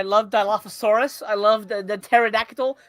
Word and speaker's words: pterodactyl: Dilophosaurus I love the pterodactyl the p is silent everybody knows that I knew it uh uh